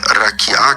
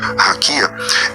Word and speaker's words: raquiá: E essa e essa palavra eh raquiá, que você por alguma razão pronuncia raquia, essa eh esse essa palavra ela é colocada na Bíblia.